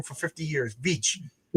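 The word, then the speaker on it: Veitch: I've been saying his name wrong for 50 years. Vich Vich Vicha made him into a uh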